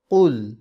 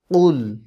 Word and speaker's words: قل: তো কীভাবে উচ্চারণ করতে হবে? قل قل ঠিক আছে, قل اعوذ برب الناس قل اعوذ برب الناس ملك الناس ملك الناس ملك এখানে কি আছে?